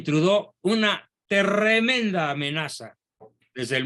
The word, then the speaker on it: Trudeau: francés pero digamos castellanizado Justin trudeau con doble es el diptongo francés más frecuente true de audó se pronuncia Justin trudó una tremenda amenaza desde